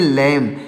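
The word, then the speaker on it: lamb: एल ए एम बी तो यहां पर बी साइलेंट है तो इसको पढ़ेंगे लैम क्या पढ़ेंगे दोस्तों इसको पढ़ देंगे लैम इसको लैम नहीं पढ़ेंगे लैम पढ़ेंगे लैम यहां पर लिखा गया है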